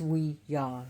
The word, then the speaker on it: Ouija: So Ouija means, which is actually pronounced, it's called Ouija, but it's we-ya, meaning, well, we meaning French, and ya.